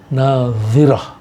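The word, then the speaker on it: ناظرة: Yang kedua pakai dha, nadhirah.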